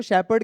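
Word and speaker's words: shepherd: सो इसको शेपर्ड कहते हैं, शेफर्ड नहीं कहते, शेपर्ड है ना। सो एच साइलेंट होता है इसमें।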